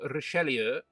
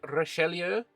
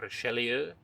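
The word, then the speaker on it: Richelieu: We have Cardinal Relier. Um the there was a comment in the uh comments section uh saying that this probably should be Cardinal De Rashelier.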